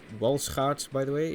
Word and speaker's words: Walschaerts: the County class included Walschaert valve gear. Shouldn't it be pronounced Walschaert, by the way? It was a Belgian invention.